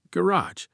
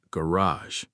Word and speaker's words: garage: In British English, it's typically garage. In American English, it's garage, more French-influenced.